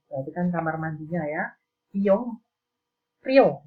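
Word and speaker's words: 이용료: Iyong Rio, tulisannya di sini bacanya Iyongmyo.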